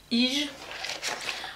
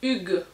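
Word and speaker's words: hygge: Ensuite on avait la box de mai qui elle c'était le thème du Ige. Alors désolée pour la prononciation, ah ça se prononce Hug.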